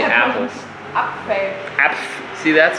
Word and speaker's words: Apfel: Apfel. Apf. See that? So we can start apf. EF. EF? PF. Apf. Apfel. Apfel. Apfel. Yes.